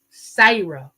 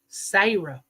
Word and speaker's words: Sarah: neck stand up and then Sarah would be sah you know and I love the name Sarah I love that name but in our area when the older people around here they would say sah and I would just